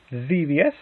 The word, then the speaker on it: Xevious: Bosconian, Xevious, I believe that's kind of how you pronounce it, Xevious, one of those, I want to say Xevious for that.